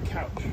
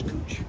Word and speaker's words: Couch: A lot of people say couch, but it's Cooch.